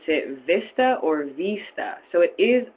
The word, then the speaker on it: VISTA: Do you pronounce it VISTA or VISTA? So it is pronounced VISTA.